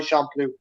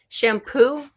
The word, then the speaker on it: Champloo: Samurai Champloo. Shampoo? Samurai Shampoo? Champloo. I pronounce it weird. No, I wasn't sure if I was hearing it right. Champloo.